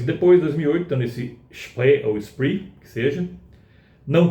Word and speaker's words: Spree: Se está fazendo uma homenagem ao rio que corta Berlim, pronuncia Spree, se não, se tiver em inglês, é Spree.